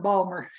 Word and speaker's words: Baltimore: I love that you call it Balmer. Hey, when you grow up, that's the way you say it. Balmer. The way those homegirls say it. Some people say Baltimore, which is how it's spelled. We say Balmer.